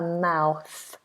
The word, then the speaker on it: mouth: and a mouth now mouth is one word that people tend to mispronounce because of the th now remembering that th is always pronounced with the tongue between the teeth so we say mou and we have this rounded vowel ow ow it's actually called a diff thong two vowel sounds moving into one ow ow